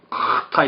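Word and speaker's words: חטא: 하타라고 쓰고 영어로는 CH를 썼는데 CH를 하로 발음하기 좀 힘들죠. 이게 왜냐면은 이 목구멍을 아주 심하게 긁어서 내는 소리가 이러는 숨이에요. 우리 아주 불쾌한 소리. 카타 이렇게 읽어야 돼.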